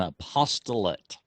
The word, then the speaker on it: apostolate: apostolate now that's important that we don't mispronounce that word because apostate means completely the opposite from apostolate apostolate means they're going forth with the good news and apostate means they moved away from it so we you